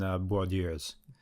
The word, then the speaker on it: Bourdieu: But it will be the end of the Ralph Steins and Bourdieus. So pleased at myself for being able to correctly pronounce that character's name, Bourdieu.